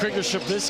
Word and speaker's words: Krzyzewski: How do you pronounce that again? You like that? How is that? Krzyzewski.